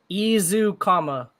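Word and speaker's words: Ezukanma: those that don't know you pronounce his name izu comma see if we could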